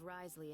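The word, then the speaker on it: Wriothesley: Fortress of meped I'll make sure to give Risley a heads up about it oh oh that's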